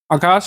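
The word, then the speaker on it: Akasa: Air India इसमें शामिल है इंडिगो विस्तारा spice जेट और आकाशा एयर यह शामिल हो गया है। इसको आकाश वैसे बोलते हैं लेकिन इसकी स्पेलिंग वैसे यही होती है। ए के एस ए आगे प्रश्न है निम्नलिखित में से कौन सा कथन सही है?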